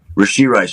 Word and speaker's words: Rashee Rice: Did I say it correctly there? Yep, you got it. Okay, Rashee Rice.